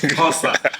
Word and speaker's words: Xhosa: I just learned how to pronounce a surname in Xhosa, not Xhosa, it's Xhosa.